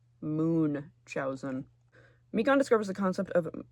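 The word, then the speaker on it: Munchausen: I've always been saying Munchowin, but Google says it's pronounced Moonchowzin.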